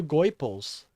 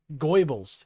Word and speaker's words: Goebbels: Benny and Tim are the new Goipels. Benny and Tim are the new fucking Goipels, you know? I think that's how you say his name. Goebbels.